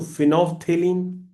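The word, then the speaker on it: phenolphthalein: Phenol पहले लिखो फिर पीए साइलेंट कर दो। फिर थेलीन लिख दो। Phenol P एच ई एन ओ एल पी A silent थे टी एच ए थे एल ई आई N lean फिनोफ्थेलीन colourless to pink ये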